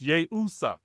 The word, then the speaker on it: Yeshua: So, but the I was around there was yay usa and it's pronounced yay usa.